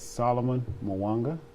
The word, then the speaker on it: Solomon Muwanga: you so much for having me and yes solomon mawanga you said it right all right salomon all